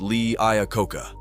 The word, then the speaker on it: Lee Iacocca: Lee Iacocca, let's just call him Lee, because Lee Iacocca sounds a bit strange to me. It's only strange because you don't know how to pronounce it, Anthony. It's pronounced Lee Iacocca, you uncultured, ignorant car fan.